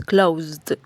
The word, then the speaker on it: closed: es un verbo regular Esta última sílaba Por así decirlo no se pronuncia con la e sino que directamente se pronuncia una d es decir unimos la z con la d pronunciándose entonces closed closed Así que Recuerden que